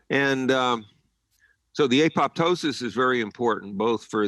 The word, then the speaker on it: apoptosis: What's called apoptosis, sometimes pronounced apoptosis, programmed cell death, goes up following EMF exposures.